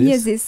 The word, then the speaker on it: Myosis: Tu es créatrice de Miosis, c'est comme ça qu'on prononce, ou Miosis? Miosis, Miosis, ouais.